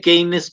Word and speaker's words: Keynes: Se escribe Keynes con Y y con K, Keynes.